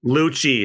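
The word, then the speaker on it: Lucci: I always forget how to pronounce his name. Luchi. It's Italian.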